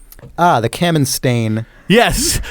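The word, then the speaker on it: Kamenstein: i n ah The Camin yes some some of you might have grown up knowing it as the cam stain uh paper tow paper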